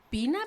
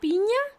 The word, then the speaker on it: Piña: vecina que se llama Pina, Piña, lo escriben como piña con con ñe, pero como allá nadie sabe pronunciar la eñ, todo el mundo todo el tiempo le dicen pina.